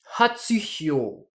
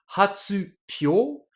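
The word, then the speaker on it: 発表: ensemble, ça nous donnerait logiquement hatsuhyo. Mais hatsuhyo, c'est super compliqué à prononcer pour un japonais. Du coup, le mot a été transformé avec l'accent sur le hi, sur le hyo, qui devient hatsupyo, et puis le tsu,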